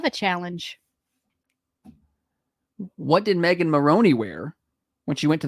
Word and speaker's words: Maroney: Is it Maroney or Marooney? It's Maroney. Okay. There's one O. You keep doing that, but that's not how you say her name.